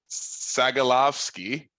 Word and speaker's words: Sagalovsky: If you think deuterium is hard to say, try pronouncing my last name. I was gonna go for it. But I was like Sagalovsky. You got it.